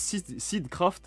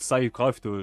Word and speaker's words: Seedcraft: On a, apparemment ça se prononce Seedcraft, je savais pas que ça se prononce comme ça, on m'a dit ça sur une rediff, donc je fais confiance à celui qui m'a rectifié, mais apparemment c'est pas... Voilà, moi j'étais là en mode Sidecraft, je pensais que c'était